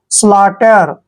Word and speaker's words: slaughter: देखिए टी से पहले जब भी GH आता है तो हमने GH को नहीं पढ़ना होता, GH वहां पर साइलेंट होता है।